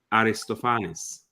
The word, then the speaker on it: Aristophanes: ask them and they said they would say Aristophanes yeah so right well in the thing is